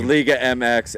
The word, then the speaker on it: Liga MX: it La leag league MX yeah it's it's Liga MX and MLS and gpsl or whatever no that's